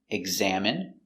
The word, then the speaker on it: examine: Words ending in ine can have different pronunciations. All of these have the sound in. Imagine, examine, engine, discipline, feminine, and masculine.